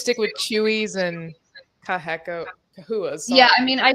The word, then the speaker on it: Chahoua: So the reason that it switched from Chahhua to cahooa is just because of how it should be pronounced in the Latin that is used for like biological Latin.